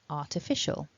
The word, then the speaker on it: artificial: So what we see is that the stress is on the latter part of the word, that mark in the centre showing us that official is the stronger part of the word.